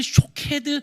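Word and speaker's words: שֹׁקֵד: 샤케드, 샤카드, 쇼케드 다 모음은 똑같은데 여기에 점을 어떻게 찍느냐에 따라서 발음이 달라지는 거예요.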